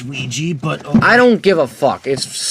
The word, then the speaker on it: Ouija: from I believe 2009 yep and Luigi it's ouija but I don't give a it's spelled oag and then I have a scary